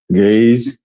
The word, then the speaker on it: Ge'ez: And the Ge'ez is still spoken fluently in, am I saying that right, Baba? Is it Ge'ez or Gaze? Gaze. Ge'ez, right. I did say it right.